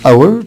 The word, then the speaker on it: our: عندنا كلمة our طبعا ال H silent.